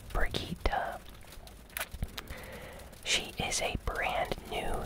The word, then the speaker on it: Brigitte: Her name is Brigitte, even though it looks like it would be pronounced Brigitte. It's Brigitte.